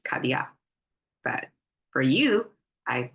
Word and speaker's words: 卡地亚: I find myself, but as a Chinese in our daily language, we'll probably say 卡地亚. But for you, I pronounce it really clearly. 卡地亚 is Cartier.